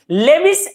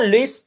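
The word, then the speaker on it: Lewis: हमने बोला कि एक इंट्रामोलिकुलर मतलब with in the molecule लेविस acid और बेस का, हालांकि लेविस मैं बार बार बोल देता हूं, लुईस प्रॉपर इसका प्रोनाउंसिएशन होता है।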